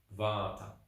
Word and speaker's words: Vata: create what we call Vata so v-a-t-a long a Bata okay so Vata means